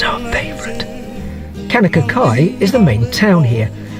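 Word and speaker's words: Kaunakakai: cross I've mayor of Kanaka Kai was written in 1935 and the only reason cockeyed was put into the title was because it rhymes with Kanaka Kai we were lucky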